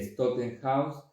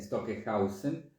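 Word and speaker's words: Stockhausen: veces una pizca de Stockenhaus, vamos a pronunciar bien, Stockenhausen, es decir, que en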